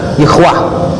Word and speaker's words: Yahweh: Ini dibaca Yahweh. Yahweh itu nama Allah menurut Yahudi. Jadi 4 huruf suci, YHWH. Kalau kita 4 huruf suci juga, alif lam lam ha dibaca Allah. Ini YHWH dibaca Yahweh.